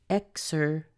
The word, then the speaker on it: exercise: with the voiced sound so it's exercise exercise in fact that last syllable size is no different than saying size like what size of shirt do you wear so exercise exercise let's